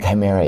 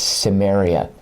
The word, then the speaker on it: Cimmerian: It's not Chimera, it's Cimmerian. Not Sumeria, Cimmerian.